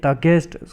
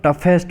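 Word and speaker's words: toughest: ये यहाँ पर ये टगेस्ट, some people pronounce it टगेस्ट something, तो ये दोस्तों ऐसा नहीं होता है, ये इसको टफेस्ट बोलते हैं।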